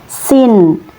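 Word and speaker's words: سين: tipis ya sin kemudian ini berharakat fathah maka dibaca sa huruf sin ini yaitu tempat keluarnya dari ujung lidah yang menempel pada dinding bagian dalam dua gigi seri bawah ya.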